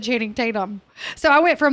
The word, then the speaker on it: Channing Tatum: Cameron called him Chatham Tatum one time, and it stuck with me. I'm like, Chatham County is where we live. No one could say his name. Like they would be like, she's spraying. I can't even like butcher it the way everyone did. I'm like, his name's Channing Tatum.